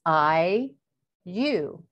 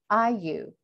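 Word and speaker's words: ayllu: It's also known as the Alu, A-Y-L-L-U, pronounced I-U, I-U.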